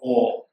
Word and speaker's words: Om: Ma, it should become it should not become Om. But it's Om. And for example, okay, the CUP, how to pronounce it?